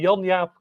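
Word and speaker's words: Jaap: I didn't okay uh in Dutch it's Yap K Yap K but there's hardly anyone outside of the Netherlands who can pronounce it right so hey you or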